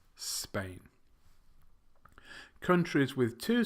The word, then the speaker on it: Spain: Greece Lao and Spain it's not so pain its Spain countries with two syllables